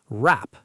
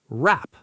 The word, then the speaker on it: wrap: Wrap. Say it. Wrap. The W is silent.